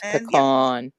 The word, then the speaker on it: pecan: They got key lime and pecan. Um, it's pecan. I got to pronounce it in the southern way.